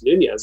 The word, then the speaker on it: Núñez: And I called my father that evening and I said, from now on, my name is Núñez. And now our whole family uses that pronunciation and really doesn't anglicize our background.